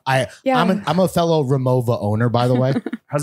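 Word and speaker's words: Rimowa: it made sense so you just pronounced the W like the V big vagina yeah so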